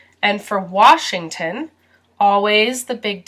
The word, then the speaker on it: Washington: taking this test in some people add and are here so it sounds like wash Eng ton Washington but most Americans say Washington Washington George Washington Alaska this